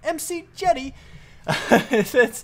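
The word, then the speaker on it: McJty: MC Jetty. he's great. I like rftools is really awesome. I like it. Apparently, yeah, it's a thing. So, anyway, I don't even know if it's made by MC Jetty, but that's the person that said it.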